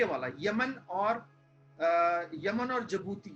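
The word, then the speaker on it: Djibouti: अगर आपसे पूछे भाई हॉर्न ऑफ अफ्रीका क्या है, तो जिबूती जो देश है ना, ये डी साइलेंट है, इसमें डी साइलेंट है।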